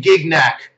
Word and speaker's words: Gignac: And I'm going to pronounce this how Smash pronounces it the correct way. Brandon Gignac.